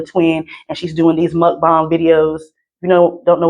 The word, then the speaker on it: mukbang: who made a twin and she's doing these mukbang videos. You know, don't know what mukbang video. Most people pronounce it like mukbang. That's not how you pronounce it. Okay, it's pronounced mukbang.